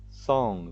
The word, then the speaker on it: song: Esse aqui é sing, song. Veja que o G é mudo e você usa apenas o som nasal de N.